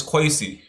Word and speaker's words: Kwesi: My name been butchered probably a billion times and it's quy.